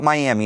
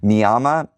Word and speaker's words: Miami: Karen with Indivisible Mama, it's not Miami. It's spelled Miami, but it's not pronounced Miami. Mama uh County in Kansas.